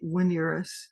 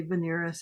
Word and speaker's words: veneris: side note about pronunciation if you have studied classical Latin I know they would say winieris um medieval Latin would say veneres and I am saying